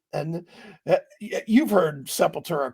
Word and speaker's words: Sepultura: right and you've heard Sepultura called that as well haven't you oh yeah absolutely people are just dumb just look at the name and sound it out the way it's spelled but no Sepulveda how do you come